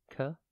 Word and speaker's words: catastrophe: It is pronounced ca-ta-stra-phe and spelt C-A-T-A-S-T-R-O-P-H-E. Think cat, then astro, like astroturf, and then P-H-E.